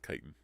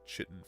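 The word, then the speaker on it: chitin: Still still don't like that kitan is pronounced kitan. I I pronounced it chitten for years and it feels correct,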